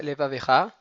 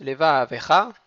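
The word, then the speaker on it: לבבך: Et le deuxième vet qui va être avec un sheva na qui se prononce, leva avecha. Donc il y a une gaia qui va se trouver entre les deux vet.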